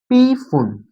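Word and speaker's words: Pfund: उस वाले स्टेट को बोला जाता है भैया पी फुन। पी फुन, फुन की स्पेलिंग क्या होती है भाई, HUND।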